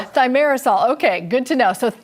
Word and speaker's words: thimerosal: And we'll have to get the uh correct pronunciation from from the expert from the doctor uh here. Thyarisol. Cheryl. Thyarisol.